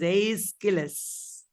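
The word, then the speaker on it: Aeschylus: it is not idus it is not sopas it is aillis the father of tragedy aillis Anita what is the name of the trilogy that aillis wrote that's right uh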